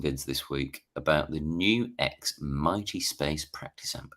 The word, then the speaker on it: NUX: the new X Mighty Is it not pronounced Nux? Or am I... I believed it was pronounced Nux until I heard, I can't remember if it was Pete Thorne or Rabia saying it's actually New X.